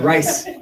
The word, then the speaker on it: RISE H: And RISE stands for Resilience, Inclusion, and Supporting for Ending, and then you put homelessness, so it's RISE H. H is silent. The H is silent, RISE.